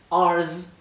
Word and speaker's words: ours: Porque ours, si lo pronuncian con zzz, como se debe, zzz, ours significa nuestro. En cambio, si lo pronuncian ours con una S suave, es una palabrota.